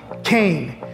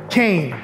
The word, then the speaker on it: Kean: We can't just up and change it because people mispronounce it. We are Kean University. Say it with me, Kean. Now go spread the word and make sure you say it loud and proud, Kean.